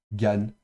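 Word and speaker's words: גן: Donc vous avez le g ensuite le a en dessous donc ga avec un noun final donc ça ça se prononcera gane et gane ça veut dire jardin.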